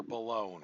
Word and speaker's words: Boulogne: Boulogne. Rhymes with Cologne. Not going to pronounce it the wrong way.